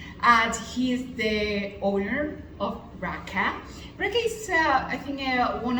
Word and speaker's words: Raaka: Is Raaka? I pronounce it. Yeah, you pronounce it right. Okay, It's Raaka.